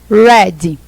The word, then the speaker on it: red: Red, tá? A gente tem essa pronunciazinha no R. Re, tá? Não vão falar red, não. Porque red em inglês é cabeça, tá bom? A gente não fala red. É red, tá certo?